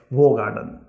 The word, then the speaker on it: Hoegaarden: और होगार्डन की जो सही प्रोनाउंसिएशन है वो है होगार्डन, यानी कि आपको हाफ डब्ल्यू लगाना है आगे तभी आप इसकी जो सही प्रोनाउंसिएशन है ना वो आप ले पाएंगे।